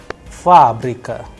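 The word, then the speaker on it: фабрика: you have fabrica there the stress is on first ah that is why it is under stress the sound of first ah is higher than the rest so it is being pronounced as fabrika which means factory all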